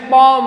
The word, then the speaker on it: poem: जैसे ही has written a पोएम, ए पोएम, मैं पोएम बोल रहा हूं, इसका राइट प्रोनाउंसिएशन पॉम होता है, पॉम।